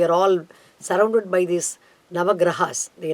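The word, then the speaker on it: ग्रह: Gra is a short letter, Ha is a short letter, but when you say as a plural number, Nava Grahaha, we can say.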